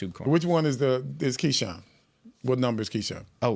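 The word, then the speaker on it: Keisean: Bill will help me out with the pronunciation of one guy's first name. Kean Nixon. That's Keshan.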